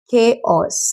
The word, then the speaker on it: chaos: No, it is pronounced as chaos.